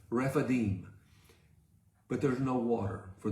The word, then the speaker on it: Rephidim: They go to Rephidim. We call it Rephidim. It's Rephidim.